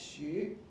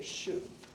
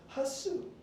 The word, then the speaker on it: Hsu: me, and I said, "It is pronounced Xu." It's like the French U or the German U sound. Most Americans can't say that sound, so you can just say Shu, which is okay.